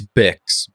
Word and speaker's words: Bix: Is it Biggs or Bix? It's Bix, Bix.